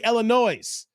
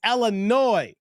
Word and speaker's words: Illinois: shamberg Illinois and Derek the S is silent that is why we don't say Illinois it's Illinois like noi noi noi